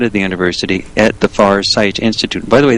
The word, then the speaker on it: Farsight: the university at the far sight institute. By the way, that's spelled f a r s i g ht like seeing far.